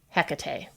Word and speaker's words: Hecate: or a cat tea the H being silent or not but still putting the emphasis on that middle syllable Hecate it just seemed to